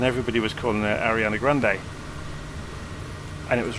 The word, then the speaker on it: Grande: come past the Headland Ribera Grande or Grande I'm always aware that people pronounce Grundy wrong because they take it as red that it's going to be in the French or Spanish form and then you get someone like Aria Ariana Grande comes along and everybody was